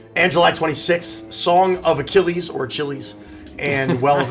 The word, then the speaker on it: Achilles: and it was like Achilles and they got it wrong because they mispronounced it. Achilles.